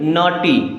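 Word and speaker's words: naughty: क्या हो जाएगा rain N ए यू जी एच टी जी एच एक साथ आया तो हो गया साइलेंट अब इसे क्या पढ़ेंगे नटी क्या पढ़ेंगे नॉटी अब हो सकता है कि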